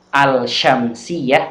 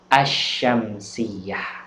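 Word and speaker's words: الشمسية: Tapi kalau alif lam syamsiyah membacanya lamnya masuk pada huruf setelahnya, bukan al-syamsiyah tapi membacanya adalah asyamsiyah.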